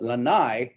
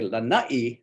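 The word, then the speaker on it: Lānaʻi: If you call it Lanai, that means someone's back is hurting. And if you pronounce it Lanai, that means porch. If you say Lanai, that means the island of Lanai.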